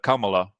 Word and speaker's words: Kamala: if if you're a Camala supporter Kamala I think we should say it properly Kamala supporter we you